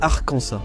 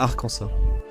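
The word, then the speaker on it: Arkansas: Mais l'État a officialisé que c'est Arcansa, pas Arcansa.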